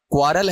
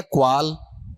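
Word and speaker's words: quarrel: जैसे इसे पढ़ना एक बार, क्वारल है या क्वाल? क्वाल। जो रे बोल रहे हो ना उसकी जगह ए बोलना स्टार्ट कर दो, अपने आप सही हो जाएगा उच्चारण।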